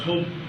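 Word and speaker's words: حب: And hub actually pronounced hope in Arabic.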